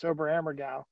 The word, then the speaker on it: Oberammergau: Mary Lou Alfonso, class of 78, she wanted to go to Oberammergau in 2020, but that has been postponed. I just wanted to say that to show that I know how to pronounce Oberammergau.